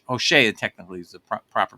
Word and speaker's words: Hosea: beginning of chapter one of hoseah or H HOSA technically is the proper pronunciation and let me just say this uh